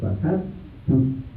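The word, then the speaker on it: فَحَدِّثْ: Nah itu keliru ya, nggak ada iyanya, nggak ada istilahnya, bukan mad alif disukun tapi langsung fahaddits.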